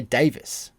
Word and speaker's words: Davies: keep forgetting to mention it's spelled like we would pronounce Greg Davies uh but they pronounce it over there Davis like tomato tomato potato